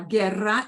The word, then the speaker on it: guerra: while you go silent this is the other situation where the U goes silent so we're gonna have this word which is right we're gonna go with the go sound in a g-u-e-g-u-y uh Guerra is war okay uh yeah yeah